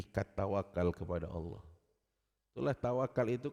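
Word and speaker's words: tawakkal: Kalau W-nya dibaca panjang tawakal, itu salah artinya. Artinya tawakalnya main-main. Tapi kalau dibacanya K-nya atau kaf-nya double, tawakal, itu tawakal yang benar.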